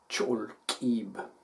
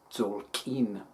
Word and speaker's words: Tzolk'in: In many places in Guatemala, they call it the Cholquib, which is basically the same as Tzolkin, right? It's just a regional pronunciation difference, that is all, and it means day count, or count of days.